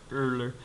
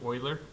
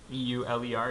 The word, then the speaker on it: Euler: Well, the guy's name looks like it's Euler, but it's Euler is the name way it's pronounced. The way that the person's name is pronounced is Euler. E-U-L-E-R is pronounced Euler.